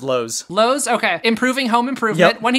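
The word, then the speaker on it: Loz: I think it's pronounced Lowe's.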